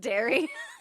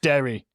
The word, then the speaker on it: Derry: It's just Derry. It's pronounced Derry.